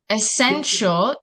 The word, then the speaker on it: essential: see my drawing hasini yes teacher okay so essential e s n is Asen that's that's proper pronunciation t i a l uh you you'll